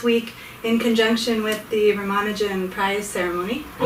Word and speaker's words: Ramanujan: the Western world right it's often pronounced Ramanuja not so Ramanujan is how I would pronounce it and if you